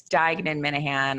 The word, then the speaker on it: Diagnan-Minahan: A lot of people are completely baffled by how to pronounce both of my last names. So it's Diagnan-Minahan.